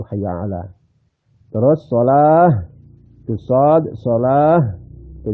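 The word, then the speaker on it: حَيَّ عَلَى: Al itu Hayya ala Ain juga Ain kadang-kadang orang membaca Ain itu setengah-setengah bainaina di antara Hamzah dan Ain itu gak cukup harus dibaca Ain itu Hayya ala terus Shah Shad Shah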